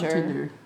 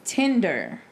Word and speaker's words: Tinder: and i was like tender i'm tender on tender is that how you say it tender it's tender what you i say like you now it's tinder oh like chicken tender yeah it's cause i'm